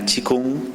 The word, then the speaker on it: qigong: se llama chinen chikun más estrictamente se pronuncia como ch chikun porque el idioma chino pues es un idioma tonal y vamos a explicar